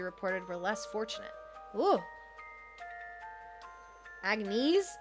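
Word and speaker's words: Agnès: Agnes. It's not Agnes. No, it's Anus. The only reason I know is because it pronounces it out loud sometimes.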